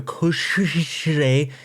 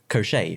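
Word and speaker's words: Koschei: the masters died also cushy is pronounced crochet from what i've heard pastors heard in russian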